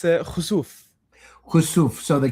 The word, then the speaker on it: Khosouf: I just want to make sure how your name of your studio, so I pronounce it properly. It's Khazuf.